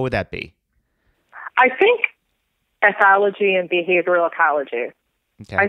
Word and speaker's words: ethology: Can you actually spell that first word? It sounds like anthology. Ethology.